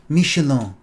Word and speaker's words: Michelin: has two michelin stars michelang they say it like that i don't talk about french people i mean like on masterchef an english person will say michelon star he has a restaurant